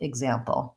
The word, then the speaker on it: example: see in the symbols you'll see the GZ in a word like example so here again exam exam we have second syllable stress and we have the GZ sound great question and something